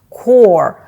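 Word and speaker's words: corps: це корпус морської піхоти Зверніть увагу на вимову слова корпус кор вимовляється без літер Піта S основна місія морської піхоти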